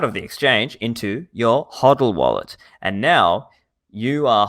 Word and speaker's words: HODL: would suggest looking at a platform known as huddle hodl so that's spelled h-o-d-l-h-o-d-l dot com then you sign up